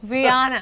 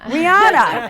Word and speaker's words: Rihanna: I don't even know how do you pronounce her name? Rihanna. Rihanna, and she's beautiful and has a gorgeous.